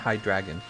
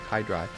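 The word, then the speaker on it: Hydreigon: hi drop the dragon it's not hi dragon said hide like dry that's what it looks like hi dry hi dragon I'm not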